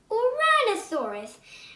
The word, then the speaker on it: Uranosaurus: I'm going to tell you how to pronounce it. Uranosaurus.